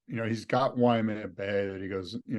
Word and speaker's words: Waimea: Waimea. Incorrect. Okay. It's not Waimea. Oh, it's just Waimea.